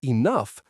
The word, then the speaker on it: enough: And words like enough, that gh sound is F.